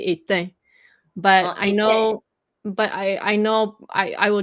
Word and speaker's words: éteint: Well, you have to say the T. Éteint.